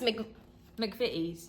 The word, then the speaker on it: McVitie's: So you pronounce this McVitie's.